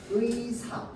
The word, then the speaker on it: 의사: 여기에 나오는 의는 지금 첫음절이잖아. 그지? 그러면 얘는 반드시 뭘로만 발음해야 돼? 의사 이렇게 발음해야 된다는 거야.